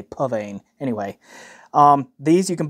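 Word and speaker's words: Psvane: 6sn 7 right here or is it pan I yeah it's spelled PS vean but I keep hearing people say pan anyway um these you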